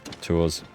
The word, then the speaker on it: Tours: the U Down tour tours tours tour I don't know it's pronounced I'm sure not twers that's that's how yorman pronounces it right cool okay and